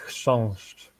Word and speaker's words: chrząszcz: I can give you beetle in beetle in Polish is pronounced chrząszcz.